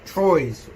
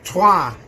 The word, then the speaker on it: Troyes: That was Troyes, or Trois if you speak French. When I first got that back, I was like, he said it right. Oh no, he's doing the actual accent. There we go. Dylan Ryan's got it right. Well done. Trois is French. We have to say it French.